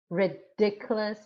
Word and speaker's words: ridiculous: in the first syllable but ridiculous is the second syllable or delighted second syllable